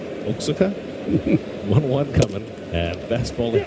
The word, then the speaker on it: Oaxaca: Oaxaca? Yeah. I just like saying Oaxaca. Yeah, because if you don't know how to say it, you can't say it from looking at the spelling. Oaxaca?